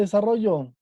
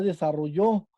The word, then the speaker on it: desarrollo: ¿Dónde está la sílaba tónica de desarrollo? Ro. ¿Sale? Si estuvieran en la última O, en yo, diría desarrolló, que es el pasado de desarrollar.